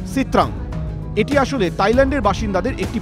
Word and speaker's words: Sitrang: নামের উচ্চারণ সিত্রাং।